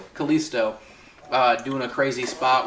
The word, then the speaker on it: Kalisto: and had you know I keep saying callistio you're wanting to add more syllables Kalisto uh doing a crazy